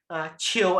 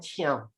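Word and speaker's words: 唱: Chill and chiao are two pronunciations for the same word.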